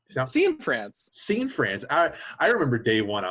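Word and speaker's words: Cianfrance: Scene France.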